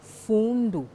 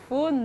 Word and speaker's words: Fundo: Gabon, avec un album, Fundo. Merci Annie-Flore d'avoir accepté l'invitation des Gabon 24. Diboti, c'est un grand plaisir. Pour la prononciation, c'est Fundo. Fundo. Parce que le U se prononce OU.